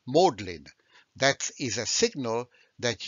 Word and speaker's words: Magdalen: jargon then magdalene college is not pronounced magdalene but it's pronounced modlin that is a signal